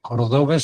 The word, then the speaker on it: Cordobés: Cordobés. Ahí te veo, cordobés Sí, sin aquí estoy. acento. ¿Cómo pronunciamos? No, con acento en la A y cordobés con acento en la E.